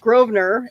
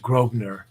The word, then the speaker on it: Grosvenor: then we have uh grosvenor and with a with an s in the word but you're not supposed to pronounce the s okay i i think